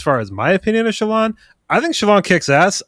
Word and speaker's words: Shallan: That's how I pronounce it. I've heard it pronounced Shallan, but I pronounce it Shallan. And that's how the audiobook pronounces it Shallan. So I feel like that's the correct.